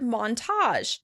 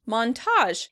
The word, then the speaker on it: montage: Next, we have the word montage. Montage. In British English, this word tends to be pronounced on the first syllable. Montage. Montage. In American English, we tend to pronounce it on the second syllable.